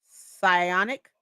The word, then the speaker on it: Psionic: Rhymes with bionic. Psionic.